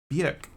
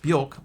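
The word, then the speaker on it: Björk: Bjork. It looks like it would be Bork, but I believe that it is BJ.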